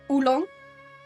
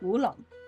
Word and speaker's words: oolong: Uh like we would pronounce it in Dutch as ulong. It's different in Chinese. It's like woolong.